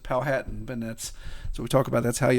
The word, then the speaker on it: Powhatan: So before we started recording, I mispronounced Powhatan. I had pronounced it Powhatan, but so we talk about that's how you always know there's a stranger around.